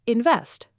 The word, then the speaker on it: invest: And the word invest. Invest. Two syllables, stress on the second, invest.